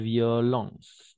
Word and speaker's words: violence: L'école l'a exclu, car il fait ses preuves de violence, d'accord? N'oublie pas, O-E-N, E-N, on va prononcer on. Violence.